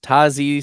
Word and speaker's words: Tyjae: Tyjae Spears. That's right. That's how it's pronounced. Tyjae Spears.